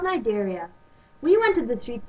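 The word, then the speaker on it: Cnidaria: Nigeria? Actually, Shirley, it's pronounced Nigeria, but good try anyways.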